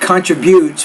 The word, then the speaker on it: contributes: You want to say the word not contributes, but contributes. So stress is actually on that second syllable, not the third.